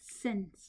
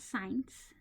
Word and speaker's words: since: Okay, now guys, please get the pronunciation of this correct. Okay, I can't hear you, but I want you to repeat since, not science.